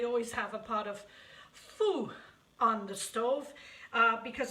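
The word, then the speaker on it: Phở: Now, some of you pronounce it pho, some pronounce it pho, some pronounce it poo. It's actually pho, F-U-H, pho. That's how it's pronounced.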